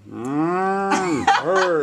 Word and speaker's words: Hourd: Last name is H-O-U-R-D. But pronounced like, heard.